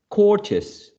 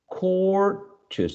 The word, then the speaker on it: courteous: So before the suffix, courteous, courteous. The word is court, courteous. So this is the stressed syllable, the first one, before the suffix, right?